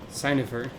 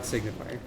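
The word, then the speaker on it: signifer: third cohort secutor and signifier or sign of her not signifier did you know that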